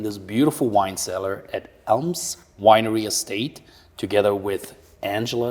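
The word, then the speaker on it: Ailm: come to fruition sure it's also maybe hard to pronounce but Elm a i l m is the first letter of the Irish tree language it's an ancient m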